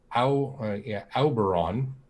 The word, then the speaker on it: Auberon: The Auberon tales. The reason that it caught your attention is because it's very similar in its pronunciation to Oberon, except instead of the O, it's an AU.